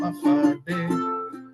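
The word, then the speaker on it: Hawaiʻi: 8 islands, I know you have heard, spelled Hafadi. It's as easy as 1, 2, 3. Just pronounce it as a Hafade.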